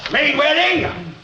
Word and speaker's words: Mainwaring: MAINWARING! AH. DO SIT DOWN, COLONEL. AH, THANK YOU. ACTUALLY, it's pronounced Mainwaring. Well, then devil, DON'T YOU SPELL IT MAINWARING?